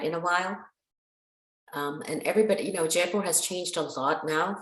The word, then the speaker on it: Jaipur: And when you were up visiting where you're from, you went to Mumbai, but you went up to, you pronounce it Jaipur? Jaipur.